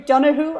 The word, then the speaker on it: Donoghue: home already Paul because you pronounce my surname right donated given that I live in Canada but hearing Donohue I just think oh okay I'm with those who understand me so so you're over